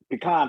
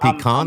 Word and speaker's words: pecan: Is it pecan or pecan? Pecan. Pecan. Well, you know, I'm in I'm in Nashville, so it's pecan pie.